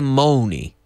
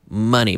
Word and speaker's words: money: No se dice money. Money, money. Funny money. Dinero gracioso. Funny money. Month. London.